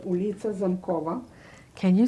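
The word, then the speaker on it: Zamkowa: It was called Ulica Zamkova. Can you spell that?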